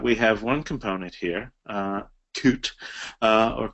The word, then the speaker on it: Qt: Notice that we have one component here, Qt, or Qt is sometimes pronounced, which has a lot of other stuff under it, subcomponents and so forth.